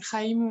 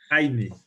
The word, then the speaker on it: Jaime: Aussi, Chaim, ou j'ai oublié comment prononcer ton prénom. Jaime. Jaime. Jaime, oui.